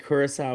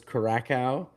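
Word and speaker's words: Curaçao: He said Kurissau was Caracco and somehow North Macedonia, which doesn't seem like a hard one to pronounce.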